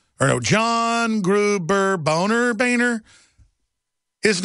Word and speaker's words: Boehner: a pun really folks you're supposed to pronounce that German name boner what's be proud of your family name but he even had a campaign when he first ran for congress saying it's Baner not boner we had to find